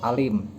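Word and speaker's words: أليم: surat al-fatihah ini karena huruf Ain ini harus dibedakan dengan huruf hamzah yaitu a biasa dengan a karena bisa merubah makna seperti kata Alim dengan kata Alim kalau Alim itu artinya mengetahui kalau Alim itu sakit seperti ayat Adapun Alim itu artinya siksa yang menyakitkan siksa yang Pedih dan juga kata tak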